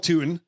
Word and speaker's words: Tuten: I had to make sure, I had to make sure the pronunciation. Oh, it's Tuten.